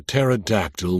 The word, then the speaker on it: pterodactyl: Walter said, "Why can't you hear a pterodactyl when he goes to the bathroom?" I groaned and was about to ask why when at the last moment it hit me. Because the P is silent.